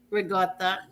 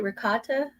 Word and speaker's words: regatta: She was correcting me last night because I said, what did I say? Ricotta? Yeah. No, you gotta say it. They say it in California. That's how they say it in California, my daughter said. No, it's regatta.